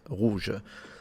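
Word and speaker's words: rouge: And interesting as you see ro in theory is the same but because there is a u it's red rouj and yeah ro is how we say it.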